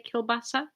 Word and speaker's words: kielbasa: More Polish people, they would say kielbasa, but in Russian, kalbasa. There's stress on the last A, kalbasa. In Polish, I think it's kielbasa.